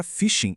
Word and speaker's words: phishing: A pronúncia é bem parecida com a palavra fishing em inglês, que como muita gente sabe, significa pescar.